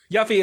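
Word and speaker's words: Yuffie: Yeah, Yuffy is how I want to say it. Yuthi is is how it's actually pronounced.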